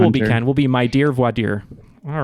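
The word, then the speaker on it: voir dire: all of his books is Vader uh is that how you say it James I'm in Kansas it is very often V dire here but Vader is correct Vader all right well we'll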